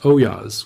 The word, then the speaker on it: olla: The Spanish called these pots ollas, pronounced oyas, which simply means clay pot in their language.